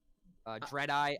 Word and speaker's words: Dreadeye: There's also Dreadeye. I almost keep calling him Deadeye, and I wanted to make sure that I didn't mispronounce it because there was actually